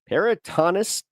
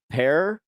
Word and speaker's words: peritonitis: Peritonitis or peritonus. I don't know how to say it. Peritonitis.